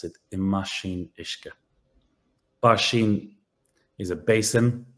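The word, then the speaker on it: i mbáisín: don't hear this B we spell it but we don't we don't hear it we pronounce it imash iska bashin is a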